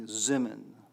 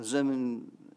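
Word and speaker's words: זימון: what they call the zemen a zemen is the yiddish pronunciation for las min las means to invite so and if you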